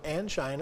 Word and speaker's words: angina: little bit and that's angina yes so angginina or anga I've heard it pronounced both ways uh is simply some